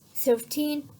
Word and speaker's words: thirteen: means we have teen if we have a stress on the first part we have t okay we have this i'll play the audio for you listen carefully that is 13 or 30 that is